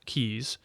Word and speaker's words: Caius: the latinized form Caius which retains nevertheless the pronunciation derived from the English original keys was born at Norwich